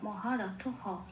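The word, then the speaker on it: মহারথঃ: পূর্ণ হিসেবে উচ্চারণ হয় মানে একটা হ যুক্ত হবে এবং সেই হটাকে উচ্চারণ করবো আমরা মহারথ হ বলে যেহেতু হটাকে হ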